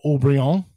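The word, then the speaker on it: Haut-Brion: Chateau Mouton Rothschild, Chateau Aubryon. It doesn't look like Aubryon, but that's how it's spelled.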